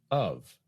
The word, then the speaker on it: of: One more thing I noticed, Jill, is the pronunciation of the word of in these structures. It seems to be reduced. I think it is. We might just use the reduced vowel, our old friend schwa, instead of clearly saying the word of.